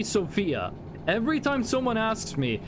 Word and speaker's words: Sofia: Bulgaria is Sofia, Hungary is Budapest. I actually don't know the capital for Serbia. The X is on the O. Sofia? Sofia? Is it Sofia? The accentuation is on the O.